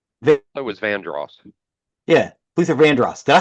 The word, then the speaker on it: Vandross: Hang on, is that how you pronounce it? Vanderos? That was Vandross.